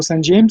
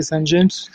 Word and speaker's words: Saint-James: dire qu'en métropole et on va prononcer plutôt saint-james la maison mère veut d'ailleurs prononcé saint-james c'est cette connotation anglaise qui d'ailleurs a été